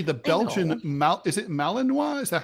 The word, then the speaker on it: Malinois: I hear I mean they use dogs apparently the Belgian Mal is it Malininoa? Is that how you pronounce it? Malininoa.